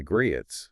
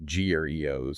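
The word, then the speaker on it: griot: And we know this isn't just a story passed down by the Grietts, the West African storytellers who are pronounced Greos.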